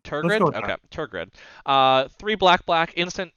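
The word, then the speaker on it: Tergrid: grip i've been struggling i actually pronounced this one tear grid's shadow i'm going to go with i think it's tur grid target okay tour grid uh three black black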